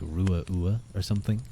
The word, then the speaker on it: Ruadh: I love the DH throws a lot of people, I imagine. Yeah, it's often Ruadh. Which isn't... actually, yeah, Ruadh wouldn't be that bad, but it's often like Ruadh.